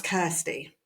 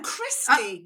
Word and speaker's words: Christy: No, Christy. Christy. Oh, shit. Like that. I was like, oh, she spelled her name wrong. We're both going like this. She spelled it Christy. Oh no, her name is actually Christy.